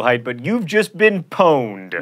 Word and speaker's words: pwned: but you've just been pwned not ponder tweened facia s' no